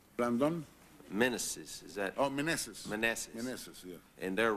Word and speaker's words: Meneses: Oh, Meneses.